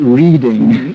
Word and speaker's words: Reading: It looks like reading, but it's pronounced Reading.